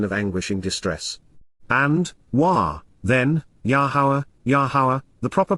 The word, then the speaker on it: Yahowah: And, then, Yahowah, the proper pronunciation of the name of Eloah, God as